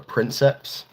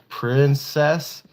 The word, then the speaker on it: princeps: pilot is called a princeps so when he was reading off the label of the machine he was trying to pronounce the word and he's like pr princess and then you see this